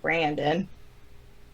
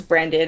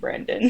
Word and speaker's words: Brendan: Because you said Brandon. Okay, I don't know how to pronounce people's names. I don't want Okay, well it's Brendan. If it's a spelt like that, it's usually pronounced Brendan.